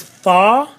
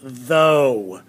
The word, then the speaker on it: though: And so which one is this? This one is thaw? No, it's though.